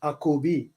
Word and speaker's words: Akobi: Drop the J and you'll get Akobi. That's how you'll pronounce it.